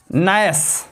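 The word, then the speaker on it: gnash: जहां पर जी plus N हो वहां पर जी साइलेंट होता है। जैसे नाइट, नाइट मीन्स होता है मच्छर। नोम, नोम मीन्स होता है बौना या सुक्ति। नैस, नैस मीन्स होता है दांत पीसना।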